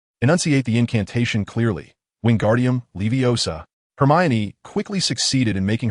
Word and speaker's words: Leviosa: Wingardium Leviosa Hermione quickly succeeded in making her feather float elegantly, earning the professor's praise.